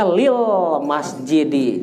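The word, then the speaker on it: لِلْمَسْجِدِ: Jadi bacanya lil masjidi, jangan tanwin. Karena disatuin dengan lam, ya.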